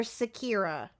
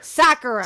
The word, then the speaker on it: Sakura: Is it Sakura or Sakira? It's Sakura. Sakura. Thank you. Okay. I want to make sure that I say that right and I get yelled at again. So, okay. Sakura.